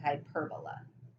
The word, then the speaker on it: hyperbola: graph is called a hyperbola so hyper bola it's kind of like hyperbola it's spelled the same way as hyperbole in language arts class but it's an idea